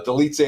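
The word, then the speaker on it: Dolidze: Roman delit versus Anthony Smith we got the delit say and I think I'm pronouncing his name right but I could be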